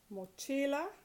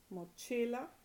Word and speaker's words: mochila: Mochila, it ends in a vowel. So the stress, naturally occurring stress, is on the next to the last syllable. Mochila. Permiso, next to the last syllable, mi.